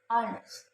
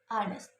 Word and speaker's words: honest: help and history history the second is some H is silent like our our honor honor and honest honest letters qu letters qu